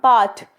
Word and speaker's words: baht: The currency of Thailand is the baht, sometimes spelled bath but pronounced to rhymes with hot. 1 baht is divisible into 100 satang.